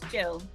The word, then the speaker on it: Jill: It's Gill. Gill. Think of the great Gillian Anderson.